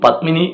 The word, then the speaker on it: പത്മിനി: പത്മിനി എന്നുള്ള പേരുള്ള ആളെ പമ്മിനി എന്ന് വിളിച്ചാലോ, അയ്യോ അവന് അത്ര പറ്റുള്ളൂ, അവൻ്റെ ഉച്ചാരണം അങ്ങനെയാണ്, പക്ഷെ നമുക്ക് ദേഷ്യം വരും എന്നുള്ളതിൽ വേറെ തർക്കമില്ല.